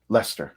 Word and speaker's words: Leicester: important part, is that Lester. Thank you, Christina Lester. Sorry. Yeah, thank you. Oh, here we would pronounce it Leicester.